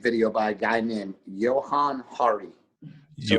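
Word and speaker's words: Johann Hari: watch a YouTube video by a guy named Johan Hari so it's Jo spelled like Johan j o h a an N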